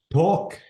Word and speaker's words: talk: Notice the L before the last letter. This is silent. Am I right? yeah. And this is what? Take or Talk. Talk.